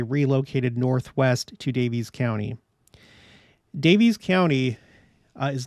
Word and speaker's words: Daviess: were expelled they relocated Northwest to davies's County davies's County uh is not spelled like that it is spelled with two s's